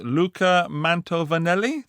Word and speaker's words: Luca Mantovanelli: We're on now to the Luca Mantovanelli. Did I say his name correctly? That is correct.